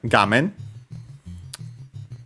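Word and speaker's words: 画面: Should be accent on the first syllable, and it is, despite being a Chinese compound.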